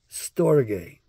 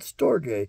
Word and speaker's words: storge: to remember but not storge it's such a weird word s-t-o-r-g-e is how we spell it in the anglicized version and the transliterated version I think that's the way to say it properly anyway It's All Greek